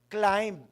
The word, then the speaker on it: climb: Jonathan's motan Jonathan Moto and our challenge is climb. Amen. Amen. Silent B daw yun. Climb. Parang masarap kasi may B climb ' ba.